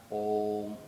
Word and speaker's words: Om: So I would like to explain that when we pronounce Om or when we practice or chant Om, so then we chant Om, OM is the sound.